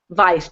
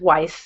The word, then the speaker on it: Weiss: found um cantor michael if it were a european pronunciation you'd say vice but he says weiss because he's in the united states and we have featured